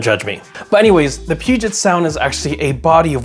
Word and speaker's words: Puget Sound: a Puget Sound was I actually pronounced it incorrectly I I I pronounced it pet sound don't judge me but anyways the Puget Sound is actually a body